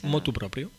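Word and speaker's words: motu proprio: Motu propio.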